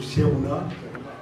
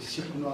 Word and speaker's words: Chikouna: Je dis toujours Cherouna, alors que c'est Chikouna. C'est pas Cherouna, c'est Chikouna, c'est Chikouna.